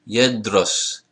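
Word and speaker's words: يدرس: Yedros. Yedros. There is no shedda here, so there is no vowel here. Yedros. 2 syllables.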